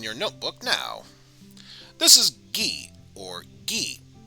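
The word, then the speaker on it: ぎ: This is gi, or gi. You obviously pronounce it as gi.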